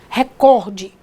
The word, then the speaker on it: recorde: sua categoria de corrida recorde ela é uma paroxítona terminada em E então gente olha só